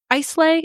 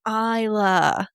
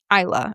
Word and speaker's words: Islay: And eventually I mentioned the whiskey part and he goes, "Oh, you mean Isa." So yeah, even though it's spelled I S L A Y. Isa is how it's pronounced.